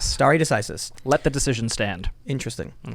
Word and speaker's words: stare decisis: Can you pronounce that? Stare decisis. Stare decisis.